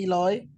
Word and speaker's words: Eloi: It's pronounced Eloi in French. The English say Eloy.